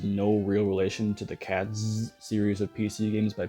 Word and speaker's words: Catz: now here's a fun one to pronounce cats it's a bit of an interesting case honestly